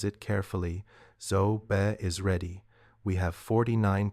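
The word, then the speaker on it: ŻOB: She pronounces it carefully. Zo Be is ready.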